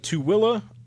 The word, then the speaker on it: Tooele: Out of Tooele, Utah, and Tooele is spelled Tooele. There's not a single W in there, but they have a pronouncer here that helps you.